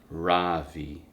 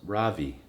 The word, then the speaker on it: Ravi: voice quivering a little my name is not ravi it's pronounced ravi she looks at me